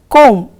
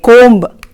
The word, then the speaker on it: comb: See here children, B is often silent after M. For example, in the word comb, you say comb and don't say comb.